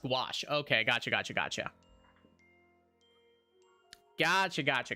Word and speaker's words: gouache: It is also pronounced It's pronounced Is it gouache? It's pronounced gouache.